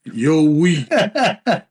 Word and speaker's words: Yowie: And she said, Yo, we. And she says, kind of like Stallone saying, yo, Adrian.